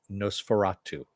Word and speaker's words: NOS4A2: That is supposed to be a license plate, but if you say it phonetically, it's Nosferatu.